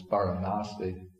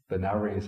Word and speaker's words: Varanasi: Okay, so he says here, the opening paragraph, he says, at Benares, of our, now it's called the proper Indian word is Varanasi. Benares, I think, was the British way of pronouncing it.